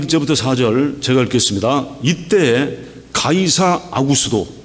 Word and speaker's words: 가이사 아구스도: 이때 가이사 아구스도, 이건 발음을 헬라어 발음으로 했기 때문에 그런데 이거는 누구예요? 시저, 아구스투스 케이사르, 시저 아구스투스죠.